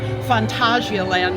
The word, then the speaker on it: Phantasialand: More specifically, we are at Phantasialand, or Phantasialand, I guess, as it's more formally pronounced.